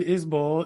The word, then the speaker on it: Isbell: right let's go with it uh so Jason isol it is spelled isbel but he pronounces it isol I don't think he gets upset if people say isbel though um is a four time Grammy winning